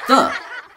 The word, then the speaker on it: the: And with any word that begins with T-H, you must make that T-H sound with your tongue against the back of your teeth, like so. Great! Let's try again. As you may or may not know, there are two ways to pronounce this word.